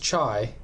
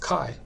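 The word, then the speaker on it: chi: Ki squ distribution okay it's not pronounced chai but it's pronounced Kai Kai squ distribution and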